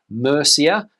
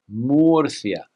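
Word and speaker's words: Murcia: that very few foreigners seem to get right Mercia is what I hear people saying all the time but how would the Spanish pronounce this name well Moria Moria Moria Moria now let's head to the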